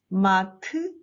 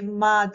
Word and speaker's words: 맏: Mad, mat, mas, no. You must read these seven final consonants as one sound, t, t. If you say mad to pronounce it, it becomes a two-syllable word.